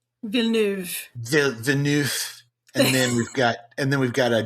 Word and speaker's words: Villeneuve: One by, I'm going to try and say his name the French way. Denis Villeneuve. Villeneuve.